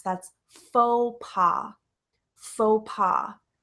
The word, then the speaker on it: faux pas: is f aux pas faux pas so when you see this word it's not fox or folks it's not passe we don't pronounce the X we don't pronounce the S that's faux pas faux pas it's spelled